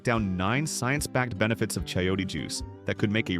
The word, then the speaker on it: chayote: Chiote, pronounced chiote, is a pear-shaped, pale green squash originally from Mexico.